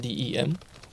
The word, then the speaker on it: D.E.M.: D.E.M. was originally pronounced as 'Dem', the short version of 'Jdeme'.